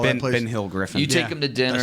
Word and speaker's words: Ben Hill Griffin: They'll get him on the grass at Florida, Ben Griffin Hill Yeah. Stadium, whatever they call Ben, that place. Ben Hill Griffin.